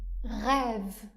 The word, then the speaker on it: rêve: On va prononcer le son /e/ ouvert, dans le cas où le dernier son de la syllabe est le son d'une consonne. Par exemple : On dit, « rêve » Le son V